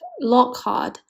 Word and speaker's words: Lockhart: Hard and hot are pronounced the same. So, the name sounds like Lockhart.